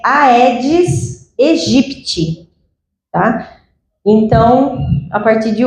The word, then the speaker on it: Aedes aegypti: Então, eu já ouvi a edit, ed egipt, ed egit. E aí eu falei, gente, falei, né? Tá difícil, qual que é a pronúncia correta? Então eu fui pesquisar, achei um professor de entomologia que eh disponibilizou um artigo de dois pesquisadores que a pronúncia correta é Aedes Egipti, tá?